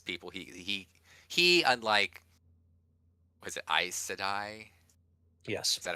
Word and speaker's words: Aes Sedai: what that is people he unlike, was it Aes Sedai? Yes. Is that how you pronounce it?